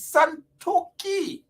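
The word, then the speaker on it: Santokhi: then president santoki santoki don't mistake and mispronounce the name it is santoki he is in right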